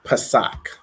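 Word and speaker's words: Pesach: write this okay so Passover is Pak so it's going to be Pa a sa a C and it's pronounced Pak okay so those are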